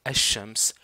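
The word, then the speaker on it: الشمس: alaramams c'est le soleil on remarque que pour asams le LaM ne se prononce pas pour alar le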